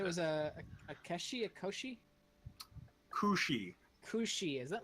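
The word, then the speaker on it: Cù Sìth: Yes, it is a Gaelic name.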